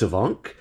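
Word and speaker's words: Afanc: troop giant flight Lake Aon I looked up how to pronounce that it's a vonk it's Welsh uh it's a creepy crypted it's a Welsh crypted I love this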